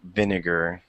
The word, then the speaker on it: vinegar: to pronounce it so vinager okay and Vin VIN has the uh the most emphasis out of the vowels or pardon me consonants like excuse me syllables the syllables okay vinegar all right there we